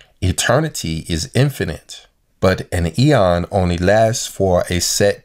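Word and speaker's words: αἰών: is Strong's number 165 which to me seems like it's pronounced Eon which means a space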